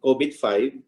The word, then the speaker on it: COBIT: you an update on code bit 2019 which unfortunately rhymes with kovid 2019 and then matching later